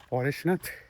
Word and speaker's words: পরেশনাথ: উঠছি এ পাহাড়টা হচ্ছে বাংলায় উচ্চারণ করা হয় পরেশনাথ হিন্দিতে উচ্চারণ করা হয় এ পারেশনাথ কিন্তু এ পাহাড়টার গুরুত্ব